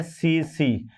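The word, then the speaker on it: tsetse: और इसका जो वाहक है इसका जो वाहक है ये है सीसी यानी यहां पर सीसी मक्खी सीसी मक्खी है ना तो ये यहां पर याद रखना बेटे टी साइलेंट है सीसी मक्खी जिसका जूलॉजिकल नेम है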